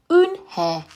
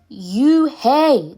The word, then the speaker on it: Eunhye: It's pronounced Eunhye. "Oh, it's you-hey," the boy said. "Like you, hey. What about hey you?"